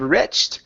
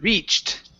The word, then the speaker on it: reached: is the word reached long e sound instead of riched it's re reached reached okay CH h plus